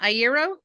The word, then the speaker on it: ieró: So the the easiest way to remember it e air as in the air I breathe e o it actually comes from